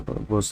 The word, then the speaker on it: Bose: It's the Bose is the pronunciation.